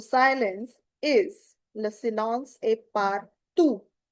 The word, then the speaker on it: partout: The silence is le silence est partout. This is ou. T doesn't have any sound at the end.